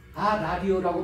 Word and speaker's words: 아라리오: 그런데 왜 여기만 아리리오가 아니고 아라리오라고 발음합니까?